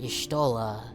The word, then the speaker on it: Y'shtola: it's like cause like her name's pronounced Y'shtola, so I guess it's kind of like the Yggdrasil Y, sort of. Like East, the East games, like that kind of a Y.